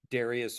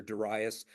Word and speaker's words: Darius: now for another king Darius or daras depending on how you want to pronounce that and by the way